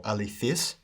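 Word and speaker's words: ἀληθής: neuter column these will follow the word alethes or alifis which is an adjective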